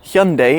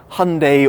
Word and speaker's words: Hyundai: really baffles my mind see Hyundai instead of Hyundai or Hyundai as we know in the UK and Tucson which really